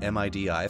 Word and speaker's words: MIDI: that you pronounce an mi di file a MIDI file and that's true for all that dot like file stuff gif JPEG MIDI you always pronounce it as a word not as a like